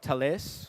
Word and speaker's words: Thales: We partnered up with a company called Thales. Yeah, that's how you say it. The French are very serious about that. So don't say it wrong.